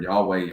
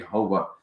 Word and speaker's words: Yahweh: name of God and the true pronunciation has been lost because there's no vows and so we have to understand the true name of God here Yahweh yahovah um those are the best pronunciations that they can come up with and here's the Hebrew